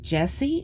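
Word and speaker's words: Jehsee: painting the roses red by an artist named jessie it's spelled j-e-h-s-e-e which is quite unique i love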